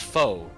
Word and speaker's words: faux: No, that's because it's pronounced faux, right?